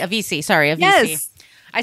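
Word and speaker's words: Avicii: it again with um the sweetest DJ um a aich a VC sorry a VC I said it wrong for years he was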